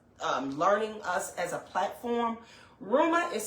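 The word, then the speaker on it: Reumah: Rumor has it, the name, if you don't know and if you are just learning us as a platform, Ruma is spelled R-E-U-M-A-H.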